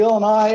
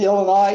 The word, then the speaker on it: Illinois: have to say that the s in illinois is silent except if you are